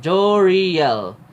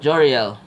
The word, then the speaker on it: Joriel: my first name is Joriel. So, it's Joe and then Re and Danielle. Combine all together, you get Joriel. Joriel.